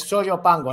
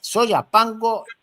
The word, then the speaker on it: Soyapango: Túnez, Soyo Pango, no Soyo. Soya Pango.